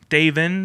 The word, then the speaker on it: Davin: We taught people how to say Davin correctly, which was important. Davin that ends in an N.